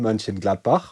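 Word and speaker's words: Mönchengladbach: the Omega 40 in Manin Gladbach which is actually the way you pronounce that city in Germany where the huge Amigga convention for the AmIgga's 40th birthday is held.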